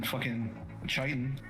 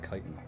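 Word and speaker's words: chitin: He's covered in Chitan. Is it Chitan? It's pronounced Kitan.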